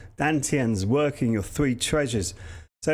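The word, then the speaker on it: Dantian: Stretching out the meridians, opening up the joints, getting the three Dan Jons, or in the Chinese way of pronouncing it, Dan Tiens, working your three treasures.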